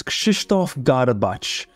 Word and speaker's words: Krzysztof Garbacz: So if you want the Polish version, my name is Krzysztof Garbacz. Is the Polish the version, but here in Australia or anywhere else, Garbacz is the easy way.